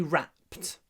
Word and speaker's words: wrapped: Сложное слово для произношения, потому что надо произносить «р» с губами вперед и сразу же убрать их назад. Wrapped. А в конце будет «pt». Wrapped.